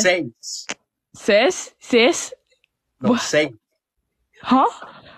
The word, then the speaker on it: seis: Uno, dos, tres, cuatro, cinco, seis, siete.